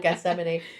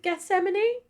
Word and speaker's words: Gethsemane: There's a song in it called Gethsemane.